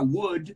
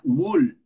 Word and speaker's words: would: gente también en esa, la palabra would pronuncian esa L y tampoco, dicen wool, que yo creo que tú me has dicho varias veces wool y cool y should.